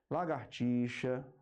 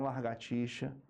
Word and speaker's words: lagartixa: mas aqui é freada lagartixa certo e não largatixa é fragrância frustração intitular